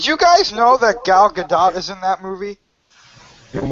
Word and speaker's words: Gal Gadot: Like Gal Gadot.